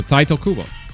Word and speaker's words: Tite Kubo: All right, so Taito Kubo, nice.